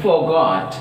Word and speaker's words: forgot: See here, for example, look at the word forgot. Forgot. See, forgot. It is a disyllabic word. But here for is a prefix, so that stress is on second syllable, that is G.